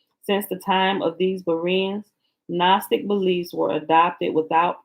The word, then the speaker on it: Berea: The people of Beroa, Acts chapter 17, check scripture. Oh, maybe I'm saying it wrong. It's Berea, because he's talking about the Bereans.